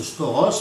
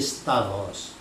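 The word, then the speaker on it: σταυρός: Alors, ils prononcent mal d'ailleurs la plupart du temps, ils prononcent stauros, mais en grec, sachez que la bonne prononciation, c'est stavros.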